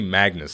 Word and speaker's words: Magnus: working towards manga tsa's it's actually Magnus I just say his name wrong all the time I'm working towards